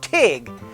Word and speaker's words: tyg: is the multi-handled mug called a tig that is spelled t-y-g really good for scrabble